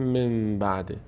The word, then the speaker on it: من بعده: ما بعدش نگاه می‌کنیم اگر حرف باود ما به جای حرف نون میم تلفظ می‌کنیم به جای حرف نون میم تلفظ تلفظ می‌کنیم و نمیگیم نون دیگه میگیم میم مثل کلمه من بعده میگیم من بعده این رو میگیم بهش